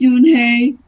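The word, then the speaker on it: Unhei: spell uh u n h e i s pronounce y oh it's y he the B said like you what about her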